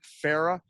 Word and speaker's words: Farah: Perrault and I have an extravagant setup thanks to our crack producer, Matt Farah. And he says, say my name like Farrah Fawcett.